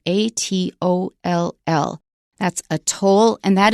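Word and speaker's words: atoll: is also a specialized word in English spelled a t o l l that's a toll and that is an island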